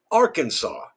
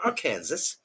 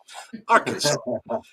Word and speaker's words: Arkansas: It must be pronounced Arkansas, not our Kansas. Arkansas.